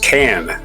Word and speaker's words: Cannes: a mistake I errored which I do it's pronounced can just can like a can film festival is